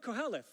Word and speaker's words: Kohelet: It's called the Book of Koheleth. sorry, we have the wrong translation. This is actually the Greek word. The Latin word is in your Bible. Sorry, it's the book of Ecclesiastes. See, but Koheleth is actually the translation of Ecclesiastes, and it's